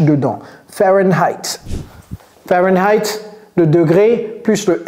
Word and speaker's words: Fahrenheit: avant le F et en anglais ça se prononce fahenheit Fahrenheit il y a deux h dedans Fahrenheit Fahrenheit le degré plus le F alors Fahrenheit